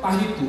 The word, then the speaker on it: Tahitoe: Seperti saya, Adoe. Bacanya Adu. Tapi sini Marcelo Tahitu.